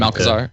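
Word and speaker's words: Malchezaar: It's pronounced its ability. That's the thing. Malkazar.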